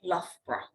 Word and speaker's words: Loughborough: So the best way to say Loughborough is, imagine it's spelled L-U-F-B-R-A, Loughborough.